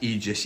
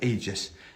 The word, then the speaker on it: aegis: it's a trip um it is actually pronounced egis yeah but I I um it just came into my head as Aegis um the a tends to be e doesn't it like an